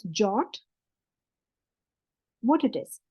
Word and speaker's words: JWT: for Json web tokens it's pronounced as jot what it is it's